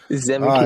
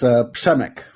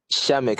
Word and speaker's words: Przemek: CEO, which is I don't know how to pronounce the name. Zemek here with us. It's Przemek. Shamek.